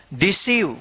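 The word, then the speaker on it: deceive: अब यहां पे देखिए इ आई आया है तो चाहे आई ई रहे या इ आई रहे इन दोनों का उच्चारण इ होगा डिसीव क्या पढ़ेंगे इसको डिसीव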